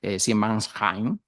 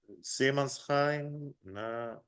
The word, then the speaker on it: Seemannsheim: muelles de Hamburgo y en la Estela Maris Siemensheim, en la Reimarustras. ¿No? Esto lo pronuncia bien, le voy a pedir ayuda. Seemannsheim, Reimarusstraße.